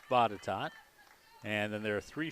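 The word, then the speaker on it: Botetourt: facility up at bottatot and it looks like boated tort folks but it is pronounced bottatot and then there are three fields that are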